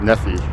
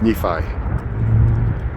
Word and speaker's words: Nephi: stop in NE Nephi I kept pronouncing it Nephi but it's Nephi and uh you could